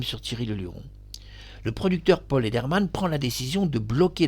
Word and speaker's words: Paul Lederman: radio, ni rien du tout, Paul Lederman, je prononce bien son nom, Paul Lederman, va bloquer quelques heures l'annonce de la mort de Thierry Leluron.